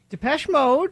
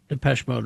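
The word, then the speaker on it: Depeche Mode: the song, but uh uh yes, Depes Mode. Depes Master and Servant. Yes. Okay. 1984, Depes Mode released Master and Servant, the second single from their fourth studio album, Some Great Reward.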